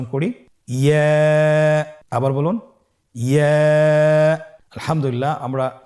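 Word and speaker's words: ي: ইয়া হরফটি উচ্চারণের ক্ষেত্রে বারিক হবে এবং 1 আলিফ টেনে পড়তে হবে। ইয়া।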